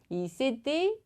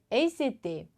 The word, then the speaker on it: s'était: 연음까지 주의해 주시고 약간 여기 발음은 되게 막 쥐떼떼 하면서 막 귀여운 척 하는 것 같고 그런데 연습 많이 해주세요.